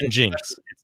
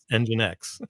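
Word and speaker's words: nginx: somewhere i'll tell you this is not called jinx engine x but go ahead there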